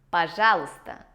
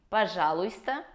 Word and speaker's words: пожалуйста: Пожалуйста. В этом слове не произносится буква «й», поэтому мы не говорим «пожалуйста», а говорим «пожалуйста».